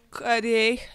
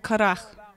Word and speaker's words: Корах: Мы думаем корей, но вообще-то она произносится как карах.